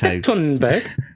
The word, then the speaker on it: Thunberg: Tunberg. It is. Yeah, that's that's how it's supposed to be pronounced.